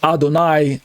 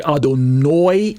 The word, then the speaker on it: Adonai: meet an orthodox Jew instead of saying Adonai uh sometimes you'll hear them say I don't know almost sounds like adonoy in Hawaii instead of